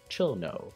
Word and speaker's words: Cirno: So when going into English, we could simply turn the Chiru back into chill and keep the no, chill no.